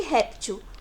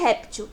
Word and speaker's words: réptil: E o dos paroxítonos, que são fóssil e réptil. Paroxítono é porque a penúltima sílaba que é a mais forte. Fó e ré são as sílabas mais fortes em fóssil e réptil.